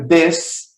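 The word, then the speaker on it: this: de dobrada e e além do mais aqui no final desse primeiro você vai pronunciar um som DF É nesse segundo você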